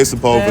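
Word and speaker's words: Sepúlveda: I know how the Spanish pronounce them vowels. So, but okay, Sepulveda. That's what it is.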